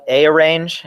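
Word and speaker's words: arange: how they pronounce that I'm going to call it a arrange instead of arrange it probably stands for array range uh I'm going to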